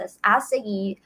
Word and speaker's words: açaí: all know that again it is pronounced as asa and comes from the